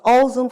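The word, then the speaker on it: Ulzen: Ozen, which is spelled u l z e n.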